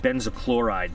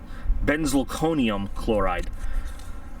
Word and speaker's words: benzalkonium chloride: I always call it benzochloride, but it's... What, you think it's funny? Yeah. The BZK, let's get it right. I used to call it. Benzalkonium chloride. BZK.